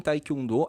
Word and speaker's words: Taekwondo: E sílaba tônica é a última, Taekwondo. Taekwondo. Algumas pessoas falam Taekwondo. Taekwondo. Tem sílaba tônica no meio. Mas no coreano, a sílaba tônica é sempre a última.